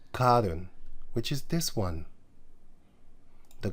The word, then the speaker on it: Karun: Karun. Okay, it's spelled Karun there. Here, here it says. Going over what is called the Karun River. He says Karun. Karon, he says, but it's actually Karun.